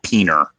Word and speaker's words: PNR: don't have enough PNR I pronounce it peener um the but the